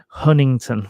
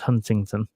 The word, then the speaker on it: Huntington: Stadium yeah Huntington for for those of you that that read it with a British inflection and think it should be pronounced Huntington um I've been reliably informed that apparently you miss out all the middle and it's uh simply Huntington Bank Stadium um obviously a lot